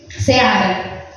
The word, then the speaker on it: Seara: Efraim teve uma filha chamada Seara, né? Assim que você pronuncia o nome dela. Então pegue, meu amor. Seara.